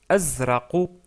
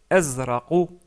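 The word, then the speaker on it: أزرق: Et on le prononce azraqu. Azraqu. Qui se termine avec une lettre que nous n'avons pas encore vue. Mais vous pouvez prononcer la lettre Q pour s'approcher de cette lettre-là. Mais c'est pas exactement le Q. Donc c'est plutôt azraqu.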